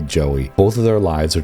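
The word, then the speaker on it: Jowy: who I actually I pronounced in my head the entire game as Ji, but I guess other people online say it's Joey, so we're going to say Joey.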